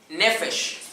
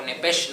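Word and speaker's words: נפש: Es la primera vez que aparece la palabra nefesh, la palabra hebrea, N-E-P-H-E-S-H, con acento en la E. Nefesh o nepesh, no sé, perdóneme la pronunciación, no hablo hebreo, a duras penas hablo español.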